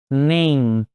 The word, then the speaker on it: name: terminar na letra E, o E ele não é pronunciado, o último som é do M, ou seja, fecha a boca, name.